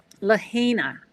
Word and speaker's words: Lahaina: Anyway, Lahaina, Hawaii, I want to say, if I'm pronouncing it correctly.